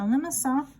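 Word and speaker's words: limaçon: this is called a limacon. L-I-M-A-C-O-N, and that's French. It's got a little French accent on the bottom. Limacon.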